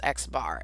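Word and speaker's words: x̄: If I say x bar, see that x with a line above it? That's pronounced x bar.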